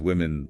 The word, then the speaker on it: women: Woman lamb with the sound at the end versus women limen with the I sound.